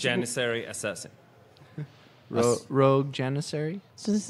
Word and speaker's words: Janissary: I can't pronounce this second word. You're going to have to help me. It's Janissary Assassin.